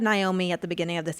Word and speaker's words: Naomi: Um, my my first name is Naomi, like nay like a horse.